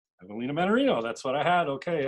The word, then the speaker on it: Evelina Mannarino: that too much so uh now the correct pronunciation of your full name just so i've got it right evelina mannarino evelina mannarino that's what i had okay i have a